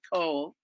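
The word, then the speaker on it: Cobh: you're gonna go to cove which is the it's it's spelt c-o-b-h you pronounce it coal which is what i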